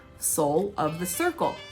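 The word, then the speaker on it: Sol: And then even this summer in 2021, they're doing something called Soul of the Circle, and soul is spelled S-O-L, like the sun, right?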